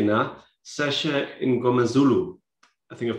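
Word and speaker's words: Mngomezulu: Sasha Ngomazulu, I think I've pronounced it.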